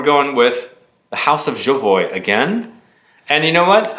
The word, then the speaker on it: Jovoy: I recently found out exactly how you say Jovoy. I thought it was Jovoy because it's French, but the owner of Jovoy said Jovoy, and I'm like, okay, we've been saying it wrong all along.